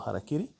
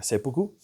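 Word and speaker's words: 切腹: Ahora, nosotros queremos llamarlo seppuku, no harakiri, porque se escribe de la misma manera, pero se tiene que leer seppuku.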